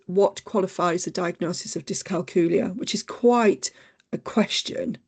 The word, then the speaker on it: dyscalculia: But you must have been pleased when I pronounced dyscalculia the right way, because I knew what the condition was.